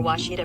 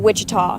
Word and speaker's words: Ouachita: Searching for Ouachita Baptist University. Back in Texas, everybody pronounces it Wichita, but really, it's Ouachita.